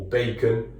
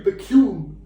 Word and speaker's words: Baekhyun: it was Baekhyun or Bacon, Bakeoff. I purposefully say his name wrong for anybody who's like, oh, his name's actually Baekhyun.